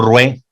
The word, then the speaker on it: Ruaix: era el ingeniero Pastor Rué, se escribe Ruaix con X, se dice Rué, que era de Tehuacán, Puebla.